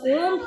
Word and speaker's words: Om: is heard throughout and the OM here is uh it has got three syllables a that is om so the a is coming from the base of the mouth and then there U and the m is when the lips close so the so these